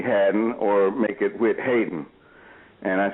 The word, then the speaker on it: Haydn: There's no E in Haydn. It's spelled like Haydn, Haydn.